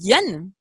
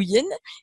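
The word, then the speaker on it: yain: Et pour en revenir aussi au vin, le vin en hébreu, qui se dit yen, je ne sais pas si je le prononce bien, ou yen, ça s'écrit Y-A-I-N, il a la même valeur numérique que le mot mystère, sod, 70.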